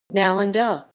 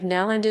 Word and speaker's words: Nalanda: Nalanda. Nalanda Sanskrit, Nalan Inda ISO. Nalanda, pronounced Na, Lnda, was an ancient Mahavihara, a